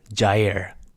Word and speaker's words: Jair: It's pronounced Jair.